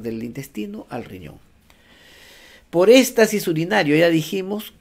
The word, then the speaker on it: éstasis: Por éstasis urinario, ya dijimos, con S y con acento en la E.